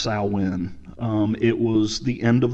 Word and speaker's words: Samhain: pagan holiday it is it is written as Samhain but it's actually pronounced I win it was the end